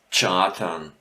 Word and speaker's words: chartern: We have a tsch sometimes spoken instead of the one sound that is written here. Actually, the ch again, a h is written, but we pronounce here with a tsch. So which words might that be? I'm not that much of them, but we have, for example, chartern.